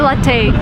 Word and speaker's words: latte: And don't say latte. This is like the worst thing I've ever heard. It's latte. Latte is an Italian word. So, if you drink coffee, it's latte, not latte.